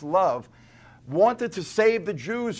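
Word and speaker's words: Loew: 16th century Jewish ghetto named rabbi love l OE w pronounced love wanted to save the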